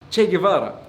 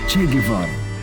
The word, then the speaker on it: Guevara: Che Guevara or as it's pronounced by the Arabs (with the soft G sound) he's a prominent figure